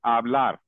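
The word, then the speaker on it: hablar: वाले पे होना चाहिए तो इसको बोलने का करेक्ट तरीका है आबलार ओके चलते हैं नेक्स्ट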